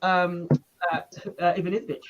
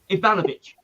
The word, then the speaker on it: Ivanisevic: Ivanovic.